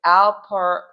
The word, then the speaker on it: alprazolam: It is alprazolam. Alprazolam. It is spelled ALPRAZOLAM.